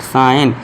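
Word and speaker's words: sign: foreign इस तरह इसमें भी साइन है जी साइलेंट साइन इस तरह जी साइन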